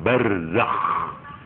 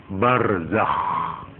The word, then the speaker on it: barzakh: itu yang disebut alam barzakh barzakh itu ejaannya ya bar Zak Z Zai k harus Ngoro Nek Nek Nek mocau ngorok barzakhah harus begitu supaya kelihatan gak boleh barzak kalau barzak itu hak ini hanya sekedar